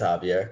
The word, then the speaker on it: Javier: I think it's Javier. Come on. Yeah, Spanish Javier, is all about the silent letters.